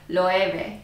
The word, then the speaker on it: Loewe: 还有很多影片都在采访大家罗意威这品牌到底怎么念，甚至官方他也有自己拍这个影片，官方也释出了他正确的翻译，就是 LOEWE LOEWE LOEWE Are youKidding me?